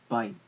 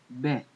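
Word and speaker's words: בית: According to the Hebrew Research Center, the Ancient Hebrew Research Center, this letter is not bite, as in modern Hebrew, but it's actually bet, which bite really means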